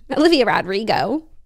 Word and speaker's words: Olivia Rodrigo: said yeah but that's her name rrio oh Olivia Rodrigo I think I said that was right yeah